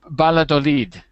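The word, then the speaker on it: Valladolid: Because it's a because we don't pronounce that the same way in Portugal. That's why. So, you're saying you're saying baladolid, right?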